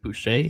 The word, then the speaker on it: Boucher: you pronounce his name Boucher. How do you pronounce his name? it Andrew. is. Yep, it's Andrew just like Boucher. Bobby Boucher. Yep. Just like Bobby Boucher, just like the Water Boy.